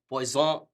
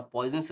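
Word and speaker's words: Poisson: तो अब देखते हैं फ़्रेंच वर्ड है जिसको शायद प्वाइजन प्रोनाउंस करते हैं बट हमारे लिए प्वाइजनोस रेश्यो चलेगा तो प्वाइजन रेश्यो ऑफ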